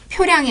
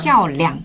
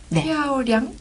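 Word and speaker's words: 漂亮: 예쁘다라는 발음은 피아오량이라고 하는데요 표양이 아니라 피아오 예 피아오 피아오량 예 피아오량 그렇죠 피오는 위에서 아래로 강하게 내리시고은 짧고 약하게 발음하시면 됩니다 이렇게요 피아오량 그렇죠 피아오량네 피아오량 어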